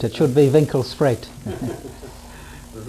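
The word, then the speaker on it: Winkelspruit: It means the river by the shop, but the English mispronounce it. What do they call it? Winkle sprout. It should be Winkle Sprite, right?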